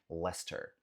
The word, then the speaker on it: Leicester: Então, Leicester Square serve para o espaço em Londres também, mas a cidade é chamada de Leicester.